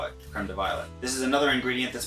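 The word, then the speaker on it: crème de violette: ounce of creamed violet now this is spelled with an extra t and an extra e on the end so it's actually probably pronounced creme de violet but i'm an american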